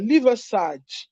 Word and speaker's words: Liversidge: Let me try and pronounce it well. Riverside, but the spelling is Liversidge.